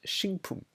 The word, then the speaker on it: 식품: There are things like, for example, “식품” (sik-pum), which means “food product”, that, when you pronounce it as a word, it becomes “sing-pum”, just because it’s easier to pronounce.